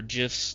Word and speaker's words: GIF: Or GIFs, depending on who you are. I think it's technically pronounced GIFs, but I call them GIFs because it's a G.